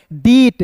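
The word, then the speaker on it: debt: क्या साइलेंट करना है बी को साइलेंट करना है टी का ट होता है क्लियर है ई का उच्चारण एक रूप में करते हैं हो जाता है डेट डी ई बी टी को डेप्ट नहीं डेट पढ़ेंगे बहुत लोग गलत पढ़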